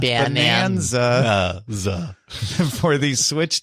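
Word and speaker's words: Bananza: Remember, that's spelled like banana. Bonanza.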